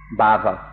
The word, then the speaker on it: bhava: or existence this this word that i pronounced is spelled b-h-a-v-a and my pronunciation has been corrected to if i make it that's a different word with a different meaning so i'll try to say it properly so this we need